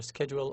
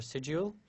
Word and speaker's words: schedule: You can pronounce it the way you like, either schedule or schedule. So third, schedule regular time and find a quiet place in which you study.